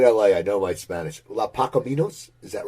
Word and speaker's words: Los Pacaminos: And I want to hear, and I want to pronounce it right. I lived in LA. I know my Spanish. Los Pacaminos, is that right?